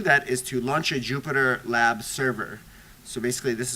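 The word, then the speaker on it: Jupyter: is to launch a Jupiter lab server so basically this is what I'm gonna do when I say Jupiter that's spelled with a Y lab and then if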